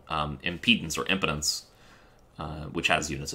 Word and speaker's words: impedance: do it as well impotency no it's it's i-m-p-e-d not that one i-m-p-e-d-a-n-c-e that's why i said impedance i think it makes sense to pronounce it like that 0.0694 at least if